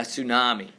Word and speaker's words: tsunami: A tsunami. Okay. Tsunami is spelled with a T.